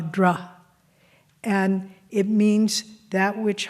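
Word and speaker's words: dhṛ: Well, the Sanskrit root for Dharma is just the syllable D-H-R, dra.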